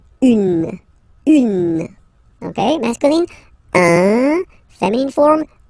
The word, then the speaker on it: une: Then the feminine article is here, and it's easier because if you have this U, N, E, then you pronounce it une.